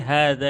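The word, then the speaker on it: هذا: Jadi hadza di sini h-nya itu dia panjang hadza tapi enggak ada alifnya. Iya. Iya. Itu dalam bahasa Arab disebut ee suatu huruf yang dibaca panjang namun tidak ditulis panjangnya atau tuntok wala tuktab.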